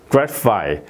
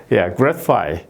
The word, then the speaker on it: gratify: 그다음에 이제 gratify, gratify, 이것도 이제 마찬가지로 h가 이렇게 들어가 있죠.